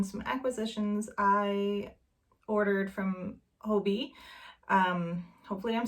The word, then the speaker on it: Hobbii: i'm saying that correctly i know it's like this big debate it's a hobie it's a hobby i've watched the youtube videos to to try to figure out if it how to pronounce it and from what i've seen from their youtube channel it's hobie um of course i'm